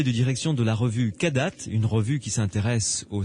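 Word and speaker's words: Kadath: nous écoutent, il suffit d'aller sur le site kadat.be. Alors Kadat, ça s'écrit K-A-D-A-T-H.be, comme Belgique évidemment.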